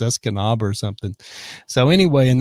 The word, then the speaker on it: Escanaba: And some local goes, hey, it's Escanaba or something like that.